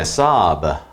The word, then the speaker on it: sob: 그 다음에 sob, 발음은 B를 좀 부드럽게 길게 하셔야 되는데요.